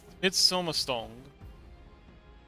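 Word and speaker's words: midsommarstång: Oh, the A is not like an A, it's pronounced like an O. Oh, okay. Midsommerstang.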